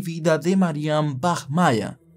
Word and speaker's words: Bachmeier: y vida de Marian Bach Maya Así es como se pronuncia en alemán que Marian Bach Mayer